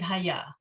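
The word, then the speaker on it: היה: Adonai coming up, but you're right to pronounce it Haya. That's how it is pronounced right here, okay?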